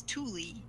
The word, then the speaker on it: Tooele: you're from Washington because it's not spelled at all like you would think right is and I'm guessing Tooele and here in Utah's oh my goodness like I could not spell that thing at first I was like what it's tule but back to the